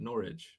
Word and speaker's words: Norwich: So it's like porridge, but Norwich.